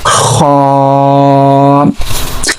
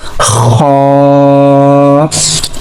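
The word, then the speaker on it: خاء: So for pronouncing Kha we are using our upper part of throat. Okay, so say again this letter Kha. Kha.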